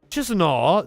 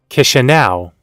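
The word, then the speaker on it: Chișinău: chisenal the moldovian capital I probably mispronounce that and if it's the moldovian capital I guess I owe it actually look up how to pronounce the capital City's name learn something Kisha now kiss you now kitchen now is the capital city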